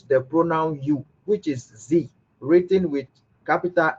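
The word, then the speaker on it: Sie: So we pronounce it what? Z.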